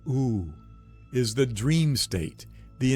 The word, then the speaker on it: U: The you, pronounced oo, is the dream state,